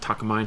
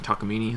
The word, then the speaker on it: Takamine: They're like uh was it Takamine? Takamini.